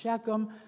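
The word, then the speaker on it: Shechem: Uh and then last week we looked at Shikum which is often pronounced sheckchum h and some of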